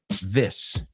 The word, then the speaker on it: this: Esto es this singular. This, kiss, sis, que es como sister, right? Miss, right? Hiss, and these. These es el plural. Dilo conmigo y rimamos. These bees are all over my knees.